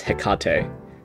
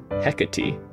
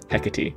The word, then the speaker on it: Hecate: crosswords clue just that way i pronounce this hekate but pronouncing like the beer it's probably not pronounced that way huh i don't want to get some more flack from sophia and uh it's hecate hecate it's not like the the beer takate apparently